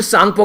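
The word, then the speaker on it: Tsangpo: अगर बात करें यहां पर तिब्बत वाले रीजन में ब्रह्मपुत्रा रिवर को क्या बोलते हैं, इसे यार लंग जांगपो या फिर सांगपो के नाम से जानते हैं, टी साइलेंट रहता है यहां पर।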